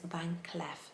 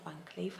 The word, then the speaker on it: Van Cleef: his ceo i i've noticed that he says van clef not van cleef how i used to pronounce it but van clef and her pals